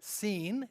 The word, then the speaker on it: Sin: was a moon God we might pronounce it scene SI i n and uh likely